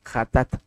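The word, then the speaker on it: חטאת: de pecado del pecado jat J así se pronuncia J a t a tat jat J a t a t hatat y está en levítico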